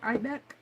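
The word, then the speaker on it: Eibeck: And Deb Ibeck, I think that's how you pronounce her name, E-I-B-E-C-K, Ibeck, was in here, and this was a powder.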